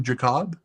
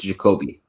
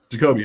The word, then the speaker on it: Jacoby: clear is your name is your name jacob um i actually forgot the i it's it's it's pronounced jacoby jacoby i like that okay